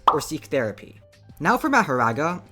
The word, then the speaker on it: Mahoraga: Now for Mahoraga, who I will now be calling Makora because that’s the Japanese pronunciation, and because I can’t say the other name without pissing other people off.